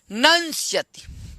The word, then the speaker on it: नंस्यति: नंस्यति। न के बाद जो म है नम, उस म को अनुस्वार हो जाएगा तो नंग हो जाएगा, और उधर स्यति तो नंस्यति, ठीक।